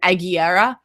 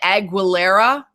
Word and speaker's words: Aguilera: through much music and that actually is how you pronounce her last name Agera um people say agilera her dad was from